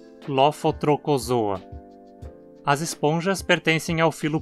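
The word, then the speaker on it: Lophotrochozoa: Lembre-se também de que CH se pronuncia como um K. Lofotrocozoa.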